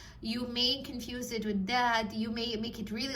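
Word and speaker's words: ض: the makhraj of dal, but it's not dal. It is Vlad. Vlad has a stronger makhraj than the letter dal, so make sure you work on it.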